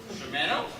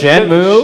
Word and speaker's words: Shenmue: Pronounce that different. Shimano? Oh, Shenmue? Shenmue.